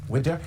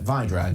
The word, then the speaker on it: Wydra: into Joe Biden joined from Washington by Widow she's the president of the constitutional accountability Center Vadra do beg your pardon and get my pronunciations